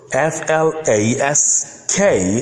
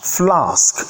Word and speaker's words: flask: Also, the word FLASK is pronounced flask in British English, but flask in American English.